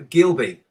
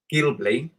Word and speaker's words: Ghibli: pet cat question nine studio Gilby or should I say Gilly I can say it properly it's an animation studio from which country so Studio Ghibli is an animation studio